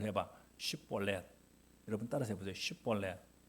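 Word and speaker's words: שיבולת: 그러면 너 한번 이렇게 한번 발음을 해봐. 슈볼렛.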